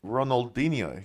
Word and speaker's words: Ronaldinho: you seen Ronaldinho yeah how do you pronounce his name Ronald Ronaldinho there you go right like we had